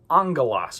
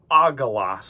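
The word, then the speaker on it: ἄγγελος: Uh then that first one there is going to be pronounced as like an N sound like a new almost. So the famous place that shows up is the word angalos. Notice we have gamma gamma. So it looks like it would be agalos or something but just a pronunciation note in Greek.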